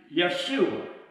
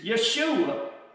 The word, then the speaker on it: Yeshua: His name was actually Yeshua. And Jesus, his name in the Greek is actually pronounced, we don't pronounce the J, it's Yeshua, okay?